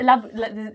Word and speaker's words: Louboutin: Which is, look at my Louboutins, yeah? Louboutins. What other funny ones are there? I'm just trying to think. There's like, Louboutin.